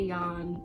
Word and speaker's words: Jan: pronounce things correctly like they keep saying jan venek and it's like you could you could at least say yawn it's not that hard